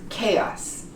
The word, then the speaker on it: chaos: It's pronounced chaos.